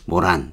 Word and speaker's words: moron: 뭐 그쪽에 있어요 모란꽃 모란 이름이 이뻤어요 근데 요즘은 술집이 많아요 뭐 코로나 시절이니까 뭐 있을 수도 있고 없을 수도 있겠지만 아이 영어로 발음이 이게 모란 모란 이렇게 발음을 해요 이거 거의 비슷해요 근데 뭐 이름 모한